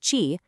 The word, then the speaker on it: Qi: The answer is the Qi standard, pronounced Qi, derived beautifully from the Asian concept of vital life energy.